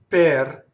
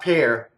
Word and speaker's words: per: We have an A again, and a per, so double P. We already know how to do that. This does not rhyme with the fruit, right? It's not pear. It's per, per, quel, right?